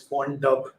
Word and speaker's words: wandb: I see someone saying it's they pronounce it as font dub.